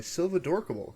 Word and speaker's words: Silvadorkable: name is and today i'm joined by silva dorkable am i pronouncing that right yes you are fantastic how